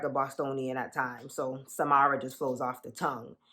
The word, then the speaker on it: Samara: i pronounce my name i pronounce it as samara like samara says okay mara f baby okay heavy on the ma mama so if you